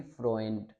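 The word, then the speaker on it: Freund: ए ऊ को हमने पढ़ना है ओए, तो इसको हम पढ़ेंगे फ्रोएंट, फ्रोएंट।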